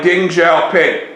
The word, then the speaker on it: Deng Xiaoping: to be replaced by Deng Xiaoping remember in the Chinese language X's are pronounced like ZZZ ding is going to